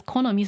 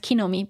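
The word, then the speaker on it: 木の実: actually wrote it as Konomi so I left it like that but in general this is pronounced kinomi but both are fine Kon or k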